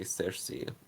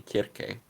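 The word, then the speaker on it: Circe: fact the real way you're supposed to say cersei is actually kirke because in ancient greek there was no c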